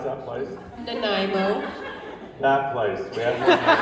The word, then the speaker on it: Nanaimo: How do you pronounce that place? Nanaimo.